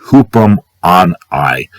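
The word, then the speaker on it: ὑπομονή: The word is pronounced hupum on I.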